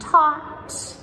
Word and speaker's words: taught: We also have words like thought and taught and caught. They all have the silent GH as well.